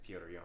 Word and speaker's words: Petr Yan: Petr Yan.